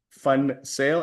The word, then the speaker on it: van Zyl: Well, my name is van Zyl, and yes, it is pronounced fun sale, as in it is fun to sell.